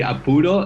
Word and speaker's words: apuro: Just say apuro, not capullo, because capullo is like a bad word in Spanish, but apuro is, yeah.